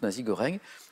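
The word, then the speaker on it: nasi goreng: peu par roboratif mais assez complet c'est le nazi goreng na et G o r e n G comme ça se prononce nazi goreng donc c'est du riz sauté avec de la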